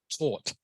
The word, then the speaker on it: taut: Both those words are pronounced taut, even though they are spelled differently.